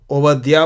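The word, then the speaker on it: עובדיה: तो बा होता है, वो डॉट नहीं तो वह होता है। वैसे तो यहाँ पे कोई डॉट्स नहीं लगाया मैंने, लेकिन इब्रानी भाषा में वो लोग ओवद्या बोलते हैं, कोई डॉट नहीं है उसमें।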